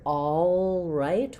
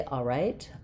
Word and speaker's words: all right: about in all right, is the L silent? Um, so now while I won't hear all right with a strong L there, um, and some people will say all right. All right. Um, I do recommend thinking of the L because it's going to affect how I say this vowel.